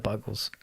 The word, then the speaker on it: Buggles: I always said it's Bugles. Buggles. Yeah. Buggles. Yeah. Yeah, I never really knew if it was. Buggles is the correct pronunciation Fair for enough.